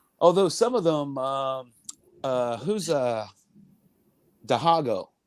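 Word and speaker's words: Dihigo: Although some of them, who's Dahago? How do you pronounce his name? Dahago? Dahigo? Dahigo.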